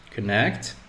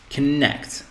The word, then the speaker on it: connect: So we have connect and we have relax. So as you heard me, the stress is on the second syllable. In this case, this one, connect. So we say connect, connect, connect.